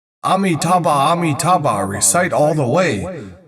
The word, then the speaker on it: Amitabha: Then you listen with your ears crystal clearly, 4 syllables, Amitabha.